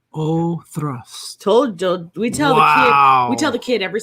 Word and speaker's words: Oak Cross: Okay, so apparently it's pronounced Oathrusk. All right, thank you, Don. Appreciate I was way off. Oathrusk.